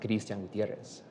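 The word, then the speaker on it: Kristian Gutierrez: And so my name is pronounced Gristian Gutierrez.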